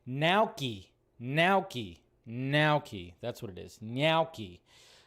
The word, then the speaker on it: gnocchi: It's gnocchi. That's what it is. Gnocchi. And I was like, oh yeah, that's got like it's got a G and an N, so obviously the G is silent because our language is so weird.